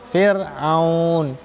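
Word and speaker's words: فرعون: Contohnya Fir'aun, tipis, Fir'aun, jangan fir. Ya. Kalau bacaan yang tebal, jadinya fir, itu tebal. Tapi yang betul Fir'aun.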